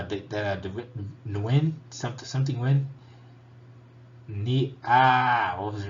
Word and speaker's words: Nguyen: to mean nguyen but you're not supposed to say nu in you're supposed to say win no you don't pronounce